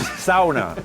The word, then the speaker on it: sauna: So again, it's sauna, right? No, it's sauna. So You'll get it. We'll send you home with a pronunciation key.